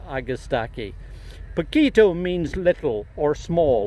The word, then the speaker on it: Agastache: nurseries in Oregon now these are August Aki's or if you come from New Mexico or Colorado you'll probably pronounce it AG a sticky but since we're talking about this region I'm going to use the pronunciation of August aqui poquito means little or